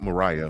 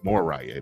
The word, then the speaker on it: Moriah: chick Mariah Mariah meals not Mariah Moriah moraya that's what it is pronounce stuff funny but that's what it is more Raya Moriah Mills is uh